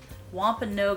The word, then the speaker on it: Wampanoag: In 1620, when the Mayflower landed at Plymouth, the Wampanoag is how you pronounce it.